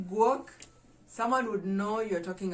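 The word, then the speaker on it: guok: you book you know like you dog so work work how do we spell it g-u-o-k that is how you'd call a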